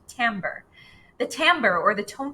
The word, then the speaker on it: timbre: color or tambour which kind of looks like team bray when it's printed on the page but it's pronounced timbre the timbre or the